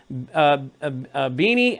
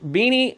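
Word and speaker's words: Binney: retired in 2001 as a senior analyst both beanie or Benny how you say his name beanie Benny it's William Benny he's an American hero they made a movie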